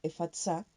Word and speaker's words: Efata: es la palabra 2188 su pronunciación e fatsa y es una palabra